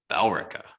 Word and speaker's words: Billerica: They were sold at Deli Mart in Bellrica. Each ticket won $100,000. Think about you walking into the Deli Mart in Bellrica and you just walk in. It's pronounced Billerica.